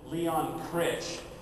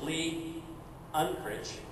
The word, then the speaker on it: Lee Unkrich: screen for everybody and everybody pronounces him Leon crit it's not Leon crit it's Lee unit and so Lee is